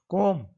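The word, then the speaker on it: comb: युवकों पर ध्यान दें इसमें भी MS Word साइलेंट हम को बोलते हैं गलत है कॉम इतना बोलना है तो जैसे हम गंगा बोलते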